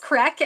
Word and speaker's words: craic: Crack. Yeah, Um, yeah, and or I'm not talking. I just to be clear, I'm not talking about something else. It's CRAIC, but it's pronounced crack.